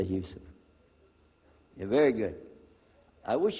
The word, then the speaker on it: Yusuf: My name is Yusuf. Can you say Yusuf? You say Yusuf.